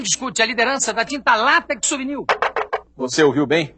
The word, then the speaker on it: látex: Eles ensinam que quiçá quer dizer talvez, ensinam que a pronúncia correta é látex e ensinam que a pronúncia correta é duplex, triplex.